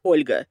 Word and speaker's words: Olga: a piece of trivia properly pronounced Olga because L gets palatalized there's actually an additional letter in Russian but unfortunately when you transliterated that letter disappears and it becomes only four or so Olga again